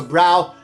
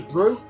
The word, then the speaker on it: Brow: you probably know that you don't pronounce a brow as a brow it's pronounced like a cup of tea a brew it was brew when i tech people